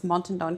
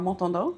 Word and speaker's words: Montandon: You can pronounce it in a couple of different languages, so it's Montandon Consulting or Montandon Consulting.